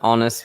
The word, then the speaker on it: honest: Or an honest mistake. The silent H, an honest mistake.